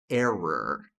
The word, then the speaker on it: error: E temos também a palavra para erro, que é error.